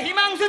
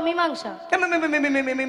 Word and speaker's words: মীমাংসা: আজকে একবারে হিমাংশু চাই। হিমাংশা? মীমাংসা নয়, বলো মীমাংসা।